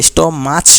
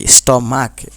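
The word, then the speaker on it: stomach: যেমন দেখো স্টমাক, এটা স্টমাচ নয়, স্টমাক, শেষে ক এর মতো উচ্চারণ, তাই শুধু এস দিয়ে আছে।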